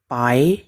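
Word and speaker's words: 白: Ini bacanya pu dan ini bacanya ai ditambah nada kedua pai yang berarti putih.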